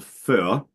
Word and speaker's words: Föhr: Frisian it's called Fea, in German it's called Föhr.